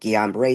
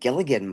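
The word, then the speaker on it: Guillain-Barré: He said, I think what you're experiencing is called Guillain-Barre Syndrome. And I started laughing. I said, Gilligan, what?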